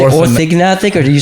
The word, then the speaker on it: orthognathic: Orthognathic? There's 2 G's? There's 1 G. 1 G? I thought it was a silent G because, you know, I thought so too. like gnome. Yeah. Nathic, like nathological principles.